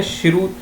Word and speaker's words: Cheraw: शेरू, शेरू बोलते हैं, शिरू, शिरू बोलते हैं, सी जो प्रोनाउंसिएशन होता है शेरू, SHERAW, शेरू।